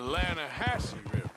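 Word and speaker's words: Lannahechee: rode down to the Lana Hetchy River I caught some beautiful steelhead trout you mean the Lana hassle no no the Lana hatch it runs right near here yeah but it's pronounced Lana Hass why is everything in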